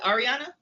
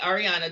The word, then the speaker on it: Arieanna: Is it Arieanna? Yes. Okay, Arieanna, just want to make sure I'm pronouncing her name right.